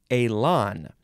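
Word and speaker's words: élan: pronounce in this episode Elon yes Elon e-l-a-n Accent on the first on the E goes Elon noun from 1864.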